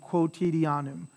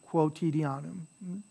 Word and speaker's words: quotidianum: tuwa sikut in you'll sometimes see this as co and sometimes you'll see it as q u but it's essentially pronounced the same quotidianum quotidianum there's your ti before vowel again tentation tentation tentation